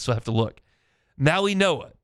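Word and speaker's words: Mauigoa: So, like if they took Francis because it's not pronounced like it says, so I have to look. Maui Noah. It's It looks like Maui Goa, but it's Maui Noah.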